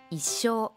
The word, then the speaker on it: 一生: がよく使います先ほどの一生との発音の違いに注意です超音が入ると一生になりなければ一緒です彼はいつ